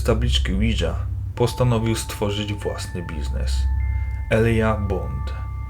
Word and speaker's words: Ouija: starożytne egipskie słowo powodzenia słowo Widza może mieć również inną formę wymowy Via jako połączenie dwóch słów francuskiego Wii czyli tak oraz niemieckiego Ja o tym samym znaczeniu po wojnie secesyjnej tablica